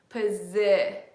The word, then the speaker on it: position: that's position position okay position is a shin so my sound I'm doing this because that's where this sound is on my face so look at what my mouth is doing posit it and the sound is like up here position position position it